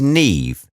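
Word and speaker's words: Niamh: one how's that Hermione or if your name is Nev n I ay M H how is that Nev I mean how how when your thinking will call our child Nev but will confuse her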